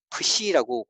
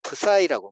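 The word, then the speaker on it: psi: 우리가 헬라흐 배울 때 공부할 때는 프시라고 프시라고 읽는데 영어권 사람들은 C를 I로 읽잖아요. 프사이라고 말해요. 우리 책에는 풋사이라고 돼 있어요.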